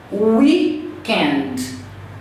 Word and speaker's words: weekend: Weekend. Weekend. Tá vendo? Não tem nenhuma vogal depois do D. O som termina na garganta.